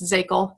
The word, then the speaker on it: Szakal: pronounce my last name it's Zagel you just completely ignore that there's an S associated with it so we're gonna talk